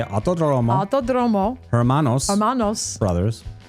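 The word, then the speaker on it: Autódromo: So, so how do you pronounce this, John? The otomosmanos Rodriguez. It is the Vivo Auto Romo. Yeah. Say Auto Dromo.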